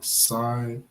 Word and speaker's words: Cyrenaica: How do you pronounce that? Cyrenaica, okay, which he has in brackets, is known as Libya.